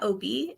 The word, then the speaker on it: Obey: So, my name is Obi. It's spelled Obey, but it is pronounced Obi.